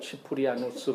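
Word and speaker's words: Cyprianus: 또는 치프리아누스 이렇게 라틴어식으로 발음을 하면 치프리아누스 그러는데 이 키프리안이 뭐라고 그랬냐면 성경을 통해서 하나님은 우리에게 말씀하시고 기도를 통해서 우리는 하나님에게 말씀드린다 그랬어요.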